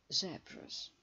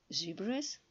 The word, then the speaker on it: zebras: Zebras чи zebras. Zebras – це американський варіант промовляння. Zebras – це британський варіант промовляння. Тому що закритий склад, а є правило, що якщо склад закритий і наголошений, буква «і» читається «е». Тому британський варіант промовляння цього слова буде «е». Zebras. Американський варіант – zebras. Я своїм учням завжди кажу, вибирайте, який хочете, який забажаєте. Як вам зручно?